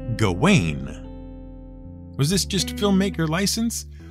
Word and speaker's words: Gawain: who was being addressed to our ears it sounded like garwin even though for years we thought the proper pronunciation was gawain was this just filmmaker